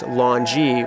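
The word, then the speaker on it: longyi: it's pronounced shat longi is supposed to be pronounced Longy which are the long skirts that money people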